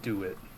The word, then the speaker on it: DeWitt: about the well dr dewitt it's pronounced dr do it just do it hello